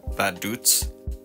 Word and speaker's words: Vaduz: capital called it looks like V but it's pronounced badut from there we'll be heading up to trenburg